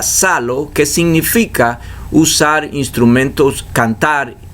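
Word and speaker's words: ψάλλω: área dicen que e aparece una palabra griega que se pronuncia salo que significa usar instrumentos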